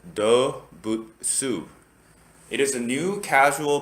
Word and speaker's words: Dobutsu: looking at their website they pronounce it as doe bhutesu it is a new